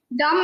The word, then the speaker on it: dumb: Dumb and dumber. It's dumb. That B is silent.